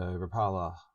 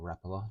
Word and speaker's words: Rapala: So Rapala, or Rapala, depending on how you like to pronounce it, are known for their high body lures.